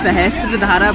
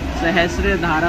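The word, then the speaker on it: सहस्रधारा: दूरी प है और लोग इसे सहस्त्र धारा प्रोनाउंस गलत करते हैं बल्कि इसका टीनी आता है सहस्र धारा होता है सो आज मैं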